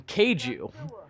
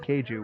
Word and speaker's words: kaiju: Episode 3, Family Kaiju, or as I said at the time, Kaiju. Yeah, I noticed that in the first couple episodes you said Keiju, which I've heard some other people pronounce it that way, and it always gets on my fucking nerves. But Yeah. by the end of the season, you started pronouncing it like a proper American.